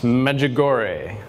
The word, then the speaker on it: Medjugorje: It's pronounced Medjugorje. And Medjugorje is a city in Bosnia.